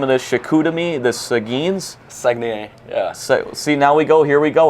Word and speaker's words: Saguenay: Saguenay, yeah.